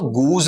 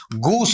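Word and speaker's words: goose: कुछ इसमें नहीं पढ़ेंगे इसका उच्चारण अपन लेते हैं तो गूज नहीं होता बेटा इसका उच्चारण क्या होता है वहां पर आपका गूस होता गुस भी नहीं है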